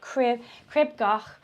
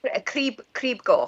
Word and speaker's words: Crib Goch: I remember you saying crib goch, which you pronounce differently to me. Crib goch.